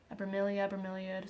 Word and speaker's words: bromeliad: I got Mango a bromeliad. Some people pronounce it differently. I pronounce it bromelia.